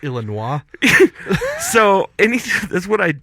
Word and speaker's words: Illinois: Illinois both of them it's pronounced Illinois so any that's what